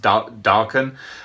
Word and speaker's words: Daken: something else but uh he develops the nickname deacon or darken is as apparently is it's supposed to be pronounced darken um which just reminds me of like a